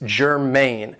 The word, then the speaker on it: germane: So the first adjective I have for you is germane. Now this is 2 syllables and the stress is on the second syllable, germane.